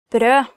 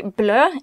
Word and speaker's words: brød: Brød, bread. Brød, bread. Kneippbrød veldig vanlig I Norge. Kneipp bread is very common in Norway. Actually, if you mistake the pronunciation of brød and say blø, it means bleed, so be careful.